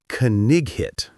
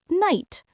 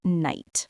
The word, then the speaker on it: knight: So I thought it was pronounced kigit. Kig hit. That's wonderful. But of course we know it's pronounced night. The k is silent. The gh is silent. It's just night.